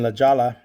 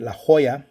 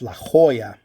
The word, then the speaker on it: La Jolla: people have been sending out to xadris in la jalla or as we pronounce it it's been la jolla it's la jolla la jolla down to san diego county part